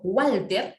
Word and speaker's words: Walter: Pero al momento de pronunciar, cuando yo pronuncio Walter, ¿no? Cuando pronuncio Walter, ese Walter, la W suena como una U. Si suena como U, transcríbelo como U. Y coloca U-A-L-T-E-R. Transcríbelo como tal como suena.